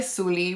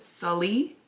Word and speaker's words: Suli: So I go by Suli, but a lot of people pronounce it Sully, which is okay.